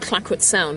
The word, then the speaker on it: Clayoquot Sound: We're based in an area called Clackwood Sound, which is spelled Clayoquot Sound, if you see it written down, but pronounced Clackwood. And we were lucky enough to have a base in a First Nations village.